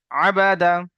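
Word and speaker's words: عَبَدَ: আইন সাবার আ বা সাবার বা আ দা সাবার দা তাহলে শেষ পর্যন্ত উচ্চারণ কি আসবে আবাদা এখানে তিনটি অক্ষর একসঙ্গে যে একটা ওয়ার্ড তৈরি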